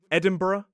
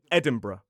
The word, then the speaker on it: Edinburgh: So, it's or some speakers just reduce it down to one syllable br. So for example, in a modern British RP accent, it could be Edinburgh or Edinburgh, Peterbr.